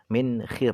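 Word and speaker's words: مِنْخِر: Wal minkhar bikasril kha, cara bacanya adalah dengan dibaca kasroh khoknya, min khir berarti.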